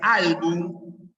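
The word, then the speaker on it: álbum: que termina en consonante esto se pronuncia album Ya termina en m album y esto es tedeum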